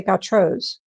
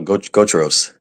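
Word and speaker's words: Gautreau's: How do you say Gatros? No, go Tros. Gotros. You say, I'm from Maryland. I can't pronounce that.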